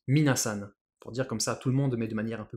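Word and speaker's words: みなさん: il transformation de compensation ça se prononce mine à san pour dire comme ça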